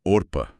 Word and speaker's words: Orpah: Ela deveria se chamar Orpah, da Bíblia. Só que ninguém pronunciava certo, e o erro pegou, virou Oprah.